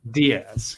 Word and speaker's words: Diaz: Diane uh and and remind me the proper pronunciation of your last name Diaz Diaz yes I I butcher so many last names